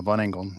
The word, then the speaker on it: Von England: Jonathan, how do you pronounce it? Von England? Yeah, Von England. You got it. Man. Yeah, that's not the German pronunciation, but it's the way we say it.